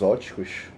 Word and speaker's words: óptico: Vários equipamentos ópticos, aqui, ó, o P é mudo, viu?